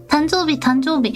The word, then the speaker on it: 誕生日: 誕生日. I think I replied on Twitter, but 誕生日 will be the right way of pronouncing it.